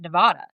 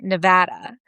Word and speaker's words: Nevada: Like I always pronounced it Nevada. Yep. And then I met him, and he nicely was like, it's Nevada.